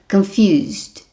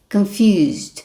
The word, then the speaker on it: confused: Então olha a minha pronúncia, confuse é o verbo, confused. Confused. Não fale confused, não sei, né? Os alunos falam, né, de várias maneiras esse ed aqui, mas não pode.